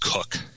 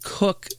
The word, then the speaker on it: Koch: What is the pronunciation of his name? My understanding is it is pronounced Cook. Okay, so it's Dave Cook Sports.